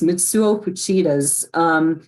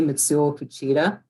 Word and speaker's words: Mitsuo Fuchida: And it's not an emphasis on a syllable like it is in English.